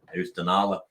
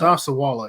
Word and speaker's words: Osceola: Ustanala? No. Yeah, it's Osceola.